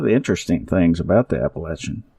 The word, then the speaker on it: Appalachia: to get involved with the Appalachia and we despise that word that that pronunciation. It is so incorrect and it's so pretentious. It's Appalachin.